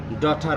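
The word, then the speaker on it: daughter: যেমন এ এর পরে ইউ আছে, যার কারণে এ ইউতে সরয় উচ্চারণ। আর একইভাবে দেখেন ডটার বানানেও ডি এ ইউ জি এইচ টি ই আর ডটার।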